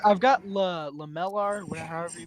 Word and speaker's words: lamellar: If it's lamellar leather, Yes, it is leather. then all right. Okay, thank so you. for everyone's sake, just because I have to throw it out there, it's pronounced lamalier.